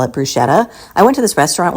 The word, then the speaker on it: bruschetta: This is not bruschetta. It's not even bruschetta, which is another way to pronounce it.